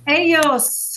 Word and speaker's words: ellos: Ellos, very good.